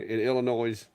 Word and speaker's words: Illinois: clack Your Redneck in Illinois you don't pronounce the S hey I can't help